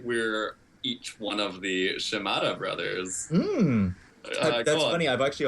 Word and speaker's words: Shimada: We're pretty familiar with the Shimoda brothers. And actually this week, more than ever, with Super Shimoda Bros. Am I pronouncing that right? No. How do you say it? I think it's Shimada.